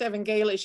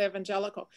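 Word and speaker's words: evangelisch: the um that evangelist church is pronounced evangelish it's not evangelical the evangelist church in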